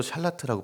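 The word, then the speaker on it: שָׁלַט: 히브리어로 샬라트라고 발음하는 단어인데 샬라트는 본래 지배하다, 통치권을 행사하다, 주도권을 쥐다.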